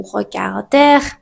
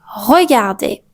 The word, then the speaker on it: regarder: Le R à la fin des infinitifs n'est jamais prononcé. Donc, ne dites pas manger ou aimer ou regarder, c'est faux. Vous pouvez dire tout simplement manger, aimer ou regarder avec une voyelle très claire à la fin.